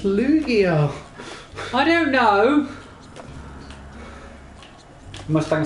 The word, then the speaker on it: Lugia: Luigia. Lugia.